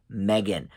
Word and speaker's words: M3GAN: number three um so M3 again but it's pronounced Megan of course um and this is about an